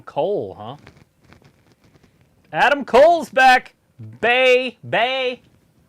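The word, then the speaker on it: Bay Bay: Bay! That's how you say it. It's like the bay of the beach, but you say it twice.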